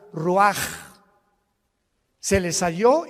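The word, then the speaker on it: רוח: Roach así como suena se pronuncia la ch en hebreo como J ruaj se le só y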